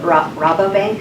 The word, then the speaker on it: Rabobank: So And Rabobank, is that how you say it?